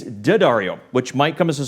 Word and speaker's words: D'Addario: rep at daddario has assured me it's not pronounced d ah Dario despite the apostrophe it's dead REO which might come as a surprise to Beverly